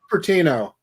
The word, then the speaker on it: Cupertino: it only used to be out in California, Cupertino, California, I believe it's how it's pronounced. But now they have them across the country. Cupertino.